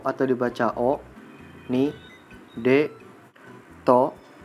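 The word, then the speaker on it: を: Nah, ada beberapa partikel dalam bahasa Jepang, yaitu ha atau dibacanya wa, ga, wo atau dibaca o, ni, de, to, he atau dibaca e, no, mo, kara, made, dan yori.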